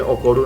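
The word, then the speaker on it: 怒る: Se dice okoru en japonés, pero no vamos a fijarnos en eso.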